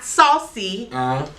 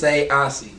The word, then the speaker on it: Sayausee: It's not Sayausee. What is it? It's Sayausee. Sayausee. Now respect it, check it, write it down, all that stuff. It ain't no more, it's Sayausee.